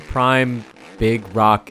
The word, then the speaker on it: Prim Big Rock: prim big rock MX prim Prime it's it's spelled different but prim prime big rock MX this track was